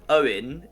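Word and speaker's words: Eoin: Well, Owen in, or at least I think it's pronounced Owen in Irish, is often spelled E-O-I-N, right?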